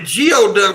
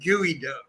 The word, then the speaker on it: geoduck: I was calling it Geoduck for a while, but I found out it's pronounced Gooey Duck.